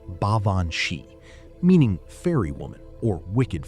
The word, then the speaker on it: Baobhan Sith: have warned for centuries about the Baobhan Sith, pronounced Baobhan Shee, meaning fairy woman or wicked fairy.